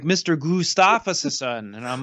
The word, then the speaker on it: Gustafson: See, my name is normal. It's phonetic. It doesn't take any weird, like, people want to throw a bunch of flavor on it when they say it. Like, I've gotten so many weird pronunciations and I'm like, dude, it's just phonetic. Like, you just, it's literally just how it's spelled. That's how you say it.